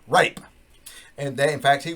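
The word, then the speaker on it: Rappe: Last name spelled R-A-P-P-E. Pronounced Jimmy Rape.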